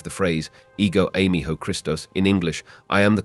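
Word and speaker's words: ἐγώ εἰμι ὁ Χριστός: The key phrase here, I am the Christ, is pronounced, ego eimi ho Christos.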